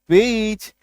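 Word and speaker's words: peach: जैसे A double T ए सी H, attach, C ओ ए सी एच, कोच, पी ए सी एच, पीच, आर ए सी एच, रीच, एस P double C एच, स्पीच, आर आई सी H, rich, है ना।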